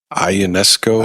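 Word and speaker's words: Ionescu: Ionesco. Ionesco. Yeah, that's how you spell it.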